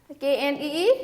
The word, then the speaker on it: knee: KNEE नी, KNEE नी, नी means घुटना, ठीक है। KNEE नी, okay, K is silent in this word, okay, K is silent, KNEE we only say pronounce as knee.